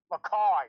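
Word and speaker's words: Mackay: pronunciation of things right it's he's from a town called maai not mck all right get it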